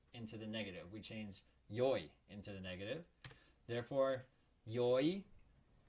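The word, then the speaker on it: よい: which is good and it can also be pronounced yoy and that's important to note here because we're gonna focus when we make the negative of e we can only use yoy and i think it's because of the way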